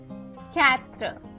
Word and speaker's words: quatre: Next is q and u, which is pronounced as k.